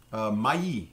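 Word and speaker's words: maïs: it in my E we don't pronounce the S but my is the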